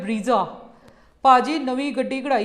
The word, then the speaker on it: ब्रेजा: जैसे कि ब्रीजा नहीं होती, ब्रेजा होती है, बलीनो नहीं होती, बलेनो होती है।